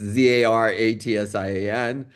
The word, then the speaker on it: Zaratsian: It's spelled very easily and it's pronounced easily. It's Zaratsian.